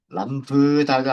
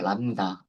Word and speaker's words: 람다: 어 어 람브다가 아니고요. 람다 B는 발음이 안 됩니다.